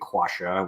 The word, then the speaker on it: quassia: And in fact, the first version I got was spelled with a C-U-A, quassia, which is part of basically cinnamon.